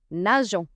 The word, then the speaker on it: nageons: Nous nageons.